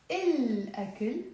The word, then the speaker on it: الأكل: منلفظ اللام, we pronounce the lam. Why? ليه? لأنه, because, memorize, لأنه, ألف, because ألف حرف شمسي is a moon letter, so we pronounce.